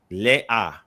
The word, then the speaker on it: Leah: Yeah, they would pronounce it le-a. So the aleph maintains the short sound. Right? So not ha. The ha wouldn't be it. It would be le-a. Correct. So the ha is not vocalized.